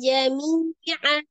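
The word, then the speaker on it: جَمِيعًا: Jadi jami'an dibaca jami'a.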